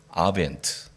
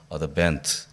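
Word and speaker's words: Advent: 영어로 대림절을 아벤트 혹은 영국식으로 발음하면 어드벤트 이렇게 하는데요.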